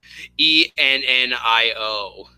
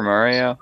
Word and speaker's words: Ennio: Ennio Morricone. That's his name. Ennio. Well, you were pretty close. Okay. What did you say his name was? Super Mario? Yeah, you were pretty close. I thought his name was Mario Morricone. No, it's Ennio.